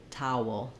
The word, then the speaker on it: towel: it like um saying you can also think about the W going more on the last part and thinking about the word wool towel towel similar to the word vowel vowel oftentimes people struggle with